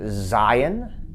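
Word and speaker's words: זין: Next letter is Zion, that's a Z sound.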